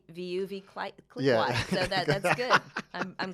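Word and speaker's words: Veuve: No, I used to say Vuv, and it's Vuv, like love.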